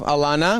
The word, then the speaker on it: Alana: And then we have Alana, which rhymes with piranha.